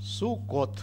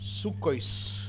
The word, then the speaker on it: Суккот: Суккот, да? Хаг Суккот. Суккот. Суккойс, если произносить по-ашкеназски. О-ой, да? На конце Т, который произносится С. Традиционно У ставится в виде такой огласовки.